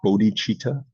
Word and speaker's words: bodhicitta: Usually pronounced bodhicitta.